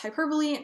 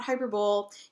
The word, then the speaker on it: hyperbole: pronounce the word hyperbole that's hyperbole not hyperbole you've been pronouncing it